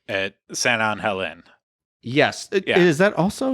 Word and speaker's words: San Angel Inn: How is the pronunciation on that, Erica? San Angel Inn.